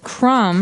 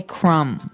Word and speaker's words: crumb: And and I want to remind everyone that the word crumb has a B on the end, C-R-U-M-B, but we don't pronounce the B. We just say crumb.